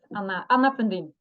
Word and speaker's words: Anna Fundin: My name is Cormac Harkin, and today we have, how do you say it, Anna Fundin? Yes, Anna Fundin.